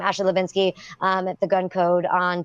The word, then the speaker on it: Hlebinsky: in my versatile Wow the H is silent huh alright thank you